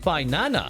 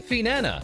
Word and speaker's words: Finana: As seen here, Obsidia has an interesting variation for the pronunciation of Finana, with Petra saying Finana, Selen saying Finana, and Rosami correctly saying Finana and getting the gold star, with Finana also reconfirming